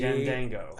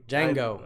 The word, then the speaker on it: Django: Ooh, The D is silent. See? Jindango. I like Thor. Got it. Thanks, Elizabeth. All right. I mean, Django.